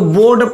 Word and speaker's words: board: ऐसे बहुत सारे फंडा होता है, मैं बताऊंगा, टेंशन में इसको फर्स्ट पढ़ेंगे, ठीक है, BOARD, इसको बोर्ड पढ़ेंगे, आर के बाद कॉन्सोनेंट, आर का उच्चारण नहीं होगा, ठीक है ना।